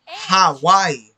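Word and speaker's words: Hawái: Same thing. I'm pronouncing the H. Hawaii. As if in Spanish I would be listening to a J.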